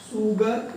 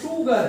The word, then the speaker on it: sugar: Generally जो small s है उसका प्रोनाउंसिएशन हम स से करते हैं, सुगर, उसको पढ़ना चाहिए सुगर, स है, लेकिन इसका जो करेक्ट प्रोनाउंसिएशन है वो शुगर है। This is शुगर, शुगर, this is correct and this is wrong.